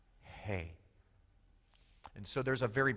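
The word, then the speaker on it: ה: hay is amazing because it's not a guttural sound it's it's it's pronounced not with the lips it is pronounced just with breath hey and so there's a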